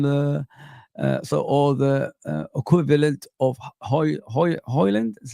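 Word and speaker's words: Højlund: I don't want another Nunes on the or the equivalent of Hoyland.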